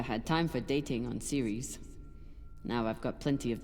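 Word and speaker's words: Ceres: had to get off Series without dos or Star Helix noticing also they're pronouncing the name of that Moon series I've definitely been calling that planet sarus for 11 years since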